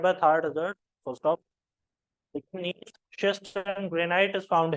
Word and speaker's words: gneiss: नीस शिस्ट and granite is found here.